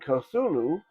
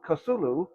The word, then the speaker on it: Cthulhu: And Kasulu is going to need some minions.